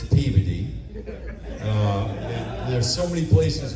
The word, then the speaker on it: Peabody: You know, you you think you know how to pronounce a city until you go there and you say it and the locals correct you. Like, don't go to Peabody, Massachusetts. Peabody. It's Peey.